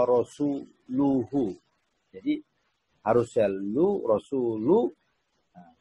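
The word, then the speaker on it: رسوله: Nah, itu yang keliru itu dibaca wa rasulihi, padahal mestinya dibaca innallaha bari'un minal musyrikina wa rasuluhu.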